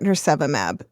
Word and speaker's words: nirsevimab: When we last had you on, it was to talk about nirsevimab. Did I pronounce that right this year?